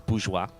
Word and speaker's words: bourgeois: way easier to say but yeah it is bourgeois bourgeoisie you might also hear some people say bourgeoisie bourgeoisie like bonjourno sheila's stuff this is mine thank